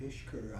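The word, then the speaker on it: Pishkur: Right, Pishker. It's actually spelled the way it's, or it's pronounced the way it's spelled, but there's too many S's and K's and H's in it.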